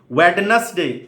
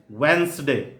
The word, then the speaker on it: Wednesday: it is vowel vowel wetness day it is Wednesday witness Witness Xerox it